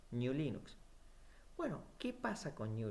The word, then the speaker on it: GNU/Linux: como para abreviar, pero el correcto nombre para pronunciarlo tendría que haber sido y tiene que ser New Linux.